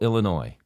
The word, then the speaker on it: Illinois: And by the way, I do know it's pronounced Illinois. I know I say jokingly that it's Illinois, but I've had this debate for years. If it's pronounced Illinois, drop the damn S.